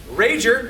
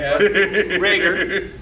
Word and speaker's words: Rager: And I have got to meet two of my heroes, which is Chris Rager, as he hates being called when he was a kid. Right. Rager, as he's pronounced professionally, who is the voice of, in my childhood, of Hercule, aka Mr.